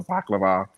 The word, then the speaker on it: balaclava: Brian can't walk 6 feet without having a cardiac arrest, and Floyd's running around with a balaclava, how you pronounce it?